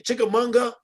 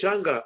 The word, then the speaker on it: chimichanga: Can you Is that a chickamanga? Chickamauga. give me a No, man, it's a tortilla? please? chimichanga.